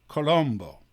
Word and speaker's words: Colombo: actually creased afford or Colombo which is how you say it in Italian by the way I